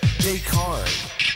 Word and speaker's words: Descartes: Anyway, yes, he's a French guy, so they don't pronounce their S's. E-S is pronounced A, and, you know.